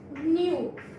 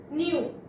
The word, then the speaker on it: nu: Greek word it is also a Greek word pronunciation is new new and frequency means the number of waves travels